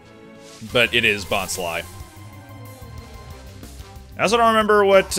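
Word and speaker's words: Bonsly: mystery of new movie they thought it was pronounced bonsley which i mean i think everyone did the structure of the word itself makes it seem like it'd be pronounced bonsley but it is bot's lie i also don't remember what uh new encounters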